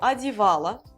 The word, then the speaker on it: одевало: Оно одевало. O à la fin, mais en fait, ça se prononce également comme la forme au féminin. Она одевала, оно одевало, parce que O sans accent tonique se prononce A.